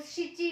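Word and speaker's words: しち: और इसमें एक एक्सेप्शन केसेस दो आएंगे कि जब आप 7 यूज करते हो टाइम में तो नाना नहीं होगा, शिची होगा।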